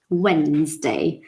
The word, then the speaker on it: Wednesday: Wednesday. So it's like the D is there, but it's connected to the N.